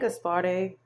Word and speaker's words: Gaspare: Gaspare, I like Gaspare, pronouncing it that way, and it means wealthy man.